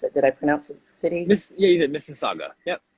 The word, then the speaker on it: Mississauga: I don't want to mispronounce it did I pronounce it cities yeah you did Mrs Saga yep Mississauga so it's interesting because some of the like